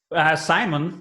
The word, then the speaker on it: Simon: Simon. Most people say Simon. In I Italy, it's Simone.